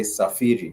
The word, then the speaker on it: safiri: Or when it comes now to travel, go on a journey, you do say safiri. Safiri, Safiri. Safiri is simply how you say it.